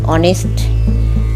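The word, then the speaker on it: honest: অর্থাৎ an year, an অনেস্ট বয়। এই যে অনেস্ট, এইচ ও এন ই এস, এখানে কিন্তু এইচ এর উচ্চারণ হলো না, ও দিয়ে শুরু হলো, তাই কিন্তু আমরা এখানে অ্যান বসাবো।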